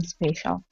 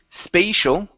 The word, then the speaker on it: special: That is what makes them special. Okay. Very good. Very good. All right. Let's take a look at the last word here. Instead of saying spatial, okay, it's going to be a short e sound.